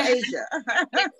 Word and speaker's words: Aysia: Oh, Asia.